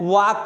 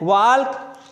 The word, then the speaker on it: walk: जैसे WALK, इसको हम लोग क्या पढ़ते हैं? वॉक पढ़ते हैं, वॉल्क नहीं पढ़ते।